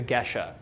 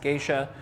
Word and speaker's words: Gesha: revolutionary that pushed everything was the gesha okay often mispronounced geisha and it is not a compare a comparison to the japanese term it is actually uh